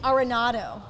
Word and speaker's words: Arenado: the next hot topic, and that is Nolan Arenado. So many reports are saying that Arenado. Yeah. Only reason I know how to pronounce it is I'm a huge Rockies fan.